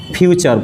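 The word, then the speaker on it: future: अब यहाँ पे देखिए लास्ट होगा तो पास्ट, और नेक्स्ट होगा तो फ्यूचर, फुटरे मत पढ़िएगा फ्यूचर।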